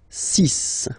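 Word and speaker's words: six: Then be careful here, because even if it's ending with this X, well, you'll have to pronounce it like S, okay? So you get the 6 pronunciation. 6. Okay, so it's not 6, it's 6. All right.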